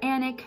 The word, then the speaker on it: Alnwick: But apparently the L and the N are silent and it is pronounced much as like panic, so Alnwick. Alnwick or Annick, not really quite sure.